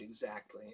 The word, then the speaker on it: exactly: say the word exactly, because everybody likes to emphasize the second syllable in the word exactly.